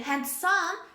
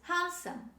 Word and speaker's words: handsome: word is handsome handsome don't say han son this is handsome handsome d is dropped when we say this word these are all for